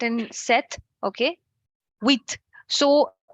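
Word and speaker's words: sept: the qua sang sis set this p is silent and set okay with so H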